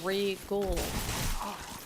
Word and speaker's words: Regole: I should pronounce it more like Seagull or Regal.